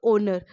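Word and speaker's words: honour: क्योंकि हम एच जब बोलेंगे इस वर्ड को, तो एच क्या है? साइलेंट हो जाएगा। आवाज़ हमारे पास आएगी किसकी? ओ की।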